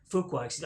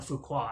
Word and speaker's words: Fuqua: that anton fuqua says fuqua i've been pronouncing his name antoine fukua i don't know why i guess because it looks french with the q in it and it's fuqua so anton fuqua says